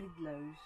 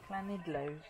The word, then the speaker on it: Llanidloes: Jen's going to pronounce it properly. Llanidloes. And again? Llanidloes.